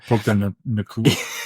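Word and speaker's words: Puka Nacua: Now, I mean, with the addition of Adams with Puka, I never can pronounce his name. Puka Nakua.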